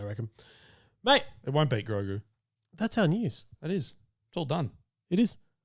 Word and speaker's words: Grogu: Grogu, say it right.